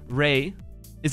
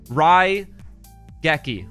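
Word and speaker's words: Raigeki: it we got it I've actually always pronounced that card rayi for some stupid reason Ry geki bottle we're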